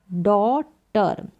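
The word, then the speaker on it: daughter: दे रहा है और यहां पर डी को ड और ए यू को ओ करके ड और जीएच यहां पर क्या है डॉटर में साइलेंट है जीएच का कोई साउंड नहीं आ रहा है तो डॉटर में जीए साइलेंट है तो राधा के एक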